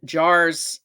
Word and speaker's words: JAARS: folks can check out our website um and jars is spelled j a a ARS uh so it's two ways uh so if you want to look it up jars.